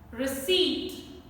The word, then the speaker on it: receipt: First word, receipt. Receipt. Again, an important word. I have heard people is a wrong pronunciation. Correct one is receipt, receipt. Then pseudo, pseudo.